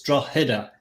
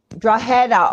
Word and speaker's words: Drogheda: is silent, believe it or not. So it's like a H. It's Drogheda. Drogheda.